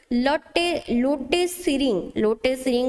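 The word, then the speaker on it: Lotay Tshering: तापरे की पॉइंट्स देखो, की पॉइंट्स देइछि प्रेसिडेंट ऑफ भूटान एबे की अछंती लोटे सिरिंग अछंती, टी टाइडी साइलेंट थाए तो लोटे सिरिंग अछंती तारो प्रेसिडेंट।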